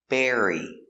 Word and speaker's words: bury: B air. Bear. R- bear. E. Berry. Berry. Berry like strawberry.